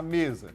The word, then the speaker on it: mesa: Vamos chamar aqui a mesa. Você não fala mesa! Você vai bater o palma na casa da mesa. Você vai falar mesa! Mesa. Então, a sílaba forte é o me. Fechou?